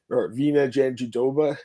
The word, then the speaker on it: Jandiroba: We got Marina Rodriguez taking on Virna Jandiroba.